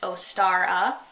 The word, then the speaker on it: Ostara: So inside here it says Ostara, pronounced Ostara, /Ostra/ Easter/Easter.